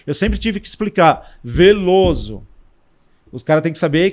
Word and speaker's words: Velloso: a vida inteira lá a pausa na pronúncia eles já sabem que é o acento não tem uma acentuação é Veloso opa ele já escreve